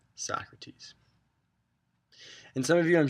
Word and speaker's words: Socrates: to our first philosopher mr. sokrates it's not how you pronounce his name Socrates and some of you